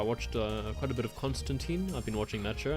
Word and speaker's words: Constantine: Though there was a little jab during the Crisis on Infinite Earths special in the Arrowverse, wherein Lucifer pronounced it John Constantine and John corrects him and says it's Constantine, and I think Lucifer replies, "Is it?